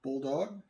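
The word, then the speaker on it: Boldog: on my plant it's called bulldog it's spelled b-o-l-d-o-g the bulldog variety is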